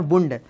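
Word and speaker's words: wound: दोस्तों यहाँ पर अगर ये शब्द है बुंड, इससे हमारा करेक्ट प्रोनाउंसिएशन होता है बुंड।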